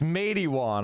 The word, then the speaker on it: Matewan: You got to learn the lessons of Mattawan. I want to play that clip. I'll show you. It's Matewan. I'm sorry. Matewan. I always mispronounce it.